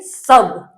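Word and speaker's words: sub: तो इसको क्या पढ़ेंगे? सब। क्या पढ़ेंगे? सब। स्पेलिंग में लिखा क्या है? एस यू बी, सब। इसको शुभ नहीं पढ़ेंगे, क्योंकि कई बार क्या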